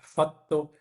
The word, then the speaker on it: fatto: äh, Details, zum Beispiel Doppeltkonsonanten auf Italienisch, fatto, spesso, fiamma, die müssen ganz doppelt klingen.